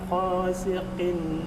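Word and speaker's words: غاسق: Wa min syarri ghasiqin idza waqab. Ada satu Pak Yasfi. Ini bukan kha tapi gha.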